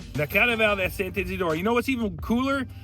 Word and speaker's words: Saint-Isidore: La Carnaval de Saint-Isidore. La Carnaval de Saint-Isidore.